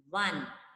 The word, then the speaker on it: one: O-N-E, one. What is the beginning sound that is coming? W, W sound, right?